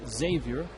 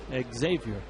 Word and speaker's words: Xavier: the university is pronounced Xavier but he pronounces his name with the X Xavier cavia misses outside na